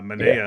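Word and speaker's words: Manaea: We were talking about this Rays game, and even though God, I always say his last name awful, Yeah. Manea. I think Minay. that's how you say it, right?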